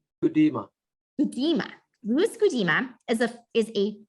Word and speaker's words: Gudema: Gudema, am I pronouncing that correctly? Gudema.